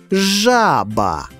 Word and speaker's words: жаба: Ось слово «жаба». Знайдім у ньому наголошений склад. Нагадаю, треба вимовити слово і з'ясувати, який склад ми вимовляємо з більшою силою. Правильно! Перший. Жаба.